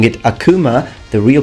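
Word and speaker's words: 悪魔: I hear a lot of people pronouncing it Akuma the real pronunciation in Japan is Akuma Akuma and it means devil moving on here's the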